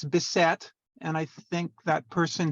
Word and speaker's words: Bissett: Oh, and the other thing, it's Bissett.